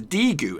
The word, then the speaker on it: Daegu: is a Daegu FC now is that how you pronounce it probably not this is how you're supposed to pronounce it it's d gu FC d gu FC Robin